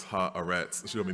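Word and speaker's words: Haaretz: Solomon gave me coached me on how to pronounce ha arets she told me not to mess it up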